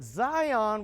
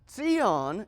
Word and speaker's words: Zion: So Zion is how it's pronounced in Hebrew. Zion in English. Zion. And the letters that spell it, it's a TS sound.